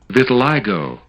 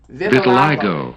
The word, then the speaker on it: Vitiligo: pronunciation. Vitiligo. Vitiligo.